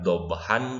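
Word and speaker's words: ضبحا: Jadi yang asalnya dhabhan diganti dengan dhabha. Namun karena ini mad, kembali lagi kepada pengertiannya, mad itu artinya panjang, maka jangan pendek bacanya, jangan wal 'adiyati dhabha.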